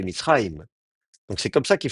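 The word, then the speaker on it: מצרים: Alors évidemment, nous, on a envie de prononcer Mitzrayim avec un i en insistant sur le i, Mitzrayim. Mais le i, en plus, il n'a pas l'accent, c'est Mitzrayim.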